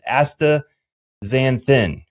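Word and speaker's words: astaxanthin: So let's let's get the pronunciation correct first. So it's Asta Xanthin, right? Correct. A Aazanthin.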